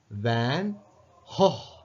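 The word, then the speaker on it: Van Gogh: பெயரை எவ்வாறு உச்சரிக்கிறதுன்னு பார்ப்போம் இதுல ஹ வேன் கோப் என்று சொல்லுவாங்க வேன் கோப் பிரிட்டன்ல பிரிட்டிஷ் அமெரிக்கால வந்து வேன் கோ என்று சொல்லுவாங்க ஆனா டட்ச்ல வந்து டட்ச் இப்ப ஹாலாண்ட் நெதர்லாண்ட்ஸ் அங்க வந்து இதை எப்படி ப்ரொனௌன்ஸ் பண்றதுன்னா வேன் வேன் ஹோ ஜி உச்சரிக்கிறது இல்ல ஜி க்கு பதிலாக ஹோ என்ற சவுண்ட் கொடுக்கிறார் வேன் ஹோ என்ற ஒரு சவுண்ட் இது ஒரு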